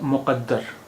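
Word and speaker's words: مقدر: अब आपने देखा कि उच्चारण के फर्क से कितना अंतर पड़ गया। एक शब्द है मुक़द्दर, मुक़द्दर, मुक़द्दर, यहाँ पर का की आवाज़ है,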